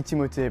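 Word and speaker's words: Timothée: are you really timothy it's supposed to be timote but it always just seemed like too obnoxious a requirement to put on people so timothy tim timmy after your third oscar alex it's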